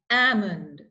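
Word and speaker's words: almond: them one more time Amand salmon have walk talk would okay so remember these are silent L words you don't pronounce the letter L like this we have other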